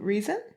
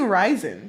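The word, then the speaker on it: Rhysand: But she crashes into Reason. I don't like the way the name's pronounced. I don't either. I don't think anyone does. I kept saying Rysand because it looks like Rysand.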